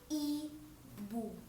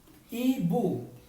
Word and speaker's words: ibu: In Bahasa Malaysia is i bu. Ibu. Even though it's I, it's still called i bu. Right. It's I, but then it's like we pronounce it by E.